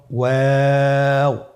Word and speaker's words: ওয়াও: আজকের পর্বের পরবর্তী হরফটি হল ওয়াও। আমরা স্ক্রিনে দেখতে পাচ্ছি ওয়াও হরফটি উচ্চারণের ক্ষেত্রে বারিক হবে এবং তিন আলিফ টেনে পড়তে হবে।